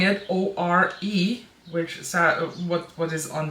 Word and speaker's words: Ore: As I learned, if you watch the swatch video, I had really problems to pronounce this, and I ended up spelling it O-R-E, which is what is on the back of the palette.